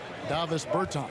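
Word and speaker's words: Dāvis Bertāns: Oh, and that, at this point in my life, it's Davis Bertans. Is that how you say his name? Yeah. Davis Bertans.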